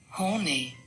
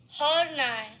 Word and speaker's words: Horney: Horny. But then there's also the German pronunciation. Horny. So there you go.